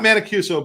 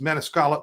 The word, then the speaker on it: Maniscalco: It's not Mancuso, but it's Maniscalco, but it's whatever it is. There's some L's in there.